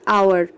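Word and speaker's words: hour: एच हो, जैसे कि आवर। यहाँ एच तो है, बहुत लोग इसको हावर भी पढ़ते हैं, बट इट इज़ रॉन्ग, इसे हम आवर पढ़ते हैं एच।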